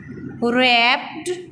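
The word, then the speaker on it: wrapped: बेटा इसको रैप्ड नहीं पढ़ना, इसमें जो W है ये साइलेंट है. ठीक है, इसको हम राइट तो करेंगे लेकिन यहाँ पे जब हमने इसको रीड करना है तो इस तरह रीड करेंगे, रैप्ड इसको बोलेंगे. W को हमने साथ बोलना नहीं है.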